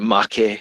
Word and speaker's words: Maki: So I will pronounce it Make Toys.